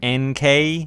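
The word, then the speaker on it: Enkei: are a Japanese brand I think NK pronounced NK as in those two letters e-n-k-e-i anyway they look fantastic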